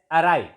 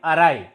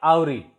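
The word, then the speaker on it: wry: This is pronounced as arai, A-R-Y, arai, not auri. Some students may pronounce it as auri who don't know that W is silent in this word.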